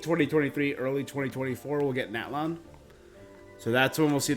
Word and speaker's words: Natlan: the captain's going to natlan and it's called natalon not Matlin which is what how I've been hearing it pronounced all right so the eel Capitano is